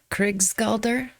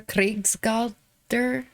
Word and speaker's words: Krigsgaldr: This song is, it looks like in English, Krigsgaldr, but for some reason I want to put like a roll on the R, Krigsgaldr.